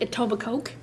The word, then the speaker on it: Etobicoke: another one missing from Etobicoke and it looks like a Tubba coke but the K is silent he went missing July